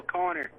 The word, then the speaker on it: Connor: No, Connor. Connor. Yeah. But it's spelled Connor. It's Connor.